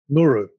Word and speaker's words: Nguuruu: Give me the pronunciation. Nguuruu.